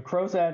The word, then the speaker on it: Crozat: So a Crozat is a light wire appliance that is used in interceptive orthodontics.